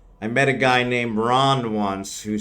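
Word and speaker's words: Rahn: said I realized that after I said it phonetically. I met a guy named Ron once who spelled his name R a HN, which I thought was just the coolest thing. Technically, it's still Ron, but not the way I spell Ron.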